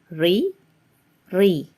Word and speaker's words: ঋ: So how do I pronounce the Ri? It actually can be related as the same pronunciation of Ri in the word resigned in English.